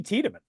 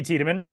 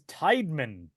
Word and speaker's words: Tiedemann: They say his name wrong on MLB The Show. Boog Shambi says Tideman when he comes into the game, which is very strange.